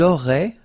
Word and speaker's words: auraient: Vous auriez, little link between the two, vous auriez, and then ils auraient, little link, but then look, A-I-E-N-T like that, and you only pronounce E, like we had here.